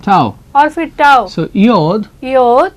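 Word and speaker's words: עדות: is the word that iyot. और ये है इयोत। As you all know that it is a ayin which is silent.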